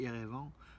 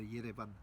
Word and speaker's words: Yerevan: qu'on ferme, alors que nous quand on dit Erevan, c'est pas tellement arménien en fait, ça traduit pas l'âme, la prononciation de l'âme arménienne en fait, de Yerevan.